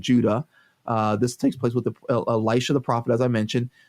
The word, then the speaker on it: Elisha: The main character here is actually the prophet Elisha, Elisha, not Elijah.